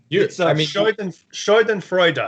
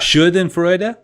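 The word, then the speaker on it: Schadenfreude: or scand and fruity sh and Freud sh and Freud yeah there's an extra syllable at the end for the E for some reason there's no uml well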